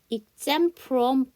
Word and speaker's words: exempt: 자, 여러분 이게 P 발음 안 하잖아요. 그럼 exempt인데요. exempt인데 여기 보시면 뒤에가 from이라는 FR이 나왔잖아요. 그래서 앞에 T를 또 안 하는 거야. 그래서 exempt from 이렇게 해주시면 돼요.